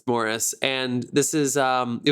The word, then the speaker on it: Maurice: the world morris flitchcroft morris is spelt exactly the same way that you would spell maurice but it's morris and this is um